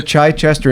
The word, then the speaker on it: Chichester: So, you and Brad moved to Chai Chichester. Is that how you say it? Yes. Okay. You moved to Chai Chester in 2014 and you launched Neabboth Gardens in